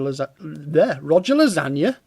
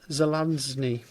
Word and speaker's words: Zelazny: Aldiss, got quite a lot of his stuff, some more Roger Lasagna. Roger Zelazny. I think I said it right before, and then I just went wrong that second time.